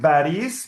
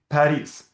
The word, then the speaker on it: Paris: We write baris because we don't have any other possibility. We read bis or we read Paris.